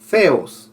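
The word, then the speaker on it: θεός: Cuando digo así como la Z, pero es TH. Theos es Dios.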